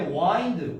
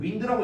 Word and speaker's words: wind: 그 다음에 이제 wind, wind라고 읽지 않습니다.